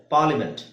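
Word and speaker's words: parliament: ಮಾಡಲೇಬೇಕಾಗಿರುವಂತಹ words ನಾನು ಹೇಳ್ತೀನಿ ಪಾರ್ಲಿಮೆಂಟ್ ಅಂತಇದೆ ಪಾರ್ಲಿಮೆಂಟ್ ಪಾರ್ಲಿಮೆಂಟ್ ಅಲ್ಲಿಎ ಇದೆ ಎ ಅದರ ಅವಶ್ಯಕತೆನೇ ಇಲ್ಲ ಅಲ್ಲಿ ಆಮೇಲೆ ಎಸ್ಥೆಟಿಕ್ ಇಲ್ಲೂ ಎ ಇದೆ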